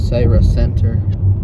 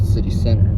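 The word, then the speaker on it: Cira Centre: Here's Syra Center. Not City Center. Pronounced difference.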